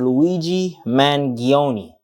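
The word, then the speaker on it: Luigi Mangione: anybody at the top it was 26y old Luigi mangion I believe that's how you say his name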